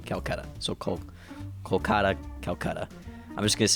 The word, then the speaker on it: Kolkata: The old name, or the current name for it is Kolkata, which is Kolkata.